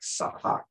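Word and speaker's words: צחק: It looks like sahak, but let's click on the number. Okay, there's sahak. Let's hear the man try to pronounce the word for us. Strong's age, 6711.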